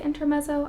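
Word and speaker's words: Intermezzo: Next up, I have I believe it's pronounced intermetso, but I've also heard people say inter messo. I think it's intermetzo. You know that Italian t from the z sound.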